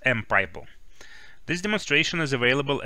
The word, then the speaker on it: mPyPl: library monadic Python pipeline library which we pronounce as M pipe Oh this demonstration is